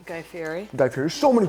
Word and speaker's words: Fieri: Guy Fieri.